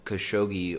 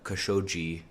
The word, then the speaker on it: Khashoggi: So in light of the Khashoggi or Khashoggi, which is two different pronunciations on his name, the murder of Qasim.